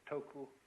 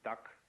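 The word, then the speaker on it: 德: this word death uh the Japanese pronounce it toku the Cantonese duck and the northern mandarins approximately du and uh in the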